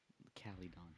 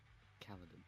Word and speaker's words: Caledon: You're like the only one I've heard pronounce it as Calydon. Calydon, not Kaladin.